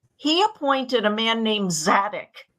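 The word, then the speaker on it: Zadok: appointed a man named zadik z-a-d-o-k in Hebrew pronounced sadok to officiate as the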